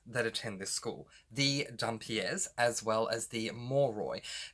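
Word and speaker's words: dhampir: If you see my other reviews, you will see that I've said dumpier, dempire, demper, don't know how to say it. I believe the correct pronunciation is Dumpier.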